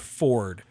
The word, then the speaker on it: Fjord: Yeah, fjord, although it's pronounced Ford, so, but like, that's a half orc character.